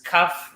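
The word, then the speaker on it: כּ: When there's a dot, it's kaf. When it's not, it's chaf.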